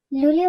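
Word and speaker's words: luglio: এন এ নি অনি লুলিও বানানের দিকে খেয়াল করে এখানে আছে এল এ ও এ উচ্চারণ হবে লু আর জি এল এ ই লি আর ও উচ্চারণ তো ও এর মতই হবে তার মানে এল এ ও লু জি এল এ ই তিনটি বর্ণ মিলে হবে লি ও ইয় সেপ্টেমব্রে এখানে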